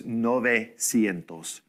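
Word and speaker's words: novecientos: 900 is going to do what 90 did we go from oh squash doing a trash compactor on the UE we smash it down to an O right foreign to say uh 900 so it's nove sientos okay now let's think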